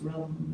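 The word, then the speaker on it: ram: So any turning is at the middle centre, and the sound for that, the digestive system is rum, or the manipura centre. Pronounced rum almost, rum.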